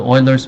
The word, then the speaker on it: Euler: so the euler's method so this one the pronunciation is called euler not euler so you might be wondering why